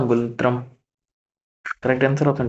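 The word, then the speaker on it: ngultrum: Last है भूटान, भूटान की क्या है, एन साइलेंट में कर लो सीधा गुलत्रम।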